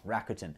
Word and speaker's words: Rakuten: to the site sorry i said it wrong rakuten anyway i'm certainly going to use my 50